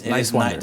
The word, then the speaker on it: Niswander: Talking to Niswander. But it's Niswander. just think nice and wander.